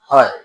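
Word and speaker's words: ح: হামজাহ এরপরে আসেন হা এই হা অক্ষরটিও আইনের মত হলকের মধ্যখান থেকে উচ্চারিত হবে হা উচ্চারণ করার সময় একটু বাতাসটা চালু চালু থাকবে পড়েন হা হা তো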